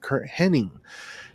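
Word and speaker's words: Curt Hennig: You can hear it very clearly the way he pronounces it, Kurt Hennig.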